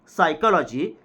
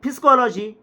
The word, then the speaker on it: psychology: will say that instead instead of saying psychology they will pronunce it physcology so many words are